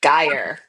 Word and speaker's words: Guyer: Yes, Gajer. That Gaia. And yeah, so I would get your last name wrong again.